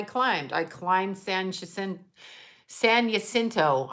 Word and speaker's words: San Jacinto: i climbed sanchez and san jacinto i never say it right i say jacinto but you know i don't have that nice rolling ours but yeah so it